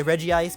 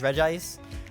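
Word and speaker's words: Regice: like it is like people say reggie ice but it's regis i'm not going to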